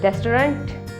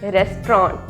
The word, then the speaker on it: restaurant: तभी हमने बहुत लोगों को कहते सुना है रेस्टोरेंट बटर करेक्ट प्रनंसीएशन इन रेस्ट्रॉन्ट है है तो रमेश को अगर आप इकट्ठा